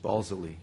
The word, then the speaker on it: Balsillie: James is a social sciences and humanities research council postdoctoral fellow at the University of Waterloo's Balsillie, is that how it's pronounced? Balsillie. Balsillie, okay.